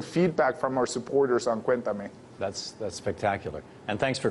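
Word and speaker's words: Cuéntame: and especially getting feedback from our supporters on Cuentame. That's spectacular. And thanks for correcting my pronunciation on that.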